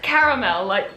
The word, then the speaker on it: caramel: Et il m'a dit: "Tu viens de prononcer "caramel" comme "carmel". - Ouais, tu en a un dans la bouche en ce moment? Alors maintenant je dis "caramel" quand je ne suis pas aux États-Unis, mais normalement je dirais "carmel". - D'accord, je dirais simplement "caramel". C'est le son "mil" plutôt que "mel".